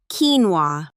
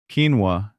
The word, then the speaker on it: quinoa: Okay, I'll say the word and then the correct pronunciation. Quinoa, Quinoa, not quinoa.